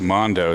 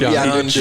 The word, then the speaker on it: Yondu: I said Mondo. Is that wrong? Yeah. That's wrong. All right, Cameo. He just said it. Yeah, it's Yondu.